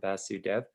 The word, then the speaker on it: Vasudeo: Good evening, everyone, and congratulations, board members Babbitt and Vasudev. Or I realize I might be mispronouncing your name. If I should say Vasudeo, I apologize. You said it correctly.